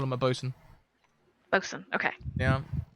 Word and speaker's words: boatswain: you call him a bosun vixen okay yeah ya can't be saying all that boatswain business that's too many syllables how do you think